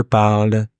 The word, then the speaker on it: parle: Now, the final E doesn't sound, S either, or T or D. Usually they don't sound. Je parle, tu parles, il parle, nous parlons, vous parlez, il parle.